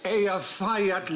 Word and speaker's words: Eyjafjallajökull: And I think, actually, the way you're supposed to pronounce it is... Hutch. If only. It changes it. Apparently, it's Eyjafjallajökull.